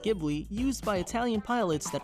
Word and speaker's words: Ghibli: The original word Ghibli is pronounced with a hard G instead of a soft G used by the studio.